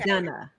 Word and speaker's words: McDonough: McDonough. McDonough. That's how you pronounce McDonough, it.